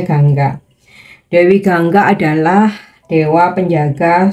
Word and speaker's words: Ganga: ini Dewi Gangga ya tulisannya Ganga oke bacanya Gangga Dewi Gangga adalah dewa